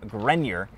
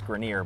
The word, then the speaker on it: Grenier: Everyone seems to think it's Grenier, but on the record, it's Grenier. Yeah, that's just how we pronounce it. And like I was just telling you a minute ago, like I've never just sat there and been like, no, you're saying it wrong, because it's close enough.